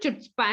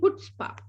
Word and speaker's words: chutzpah: Okay, now it's not Chutzpah and all that, it's actually Chutzpah.